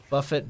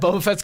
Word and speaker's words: Boba Fett: that increased damage is really big looks like Buffett but butts oh but Fett is that Boba Fett's cuz I did say it wrong I did